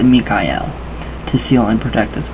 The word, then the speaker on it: Michael: Using a flat red paint, write in the archangelic name Michael, pronounced Mikael, to seal and protect this work.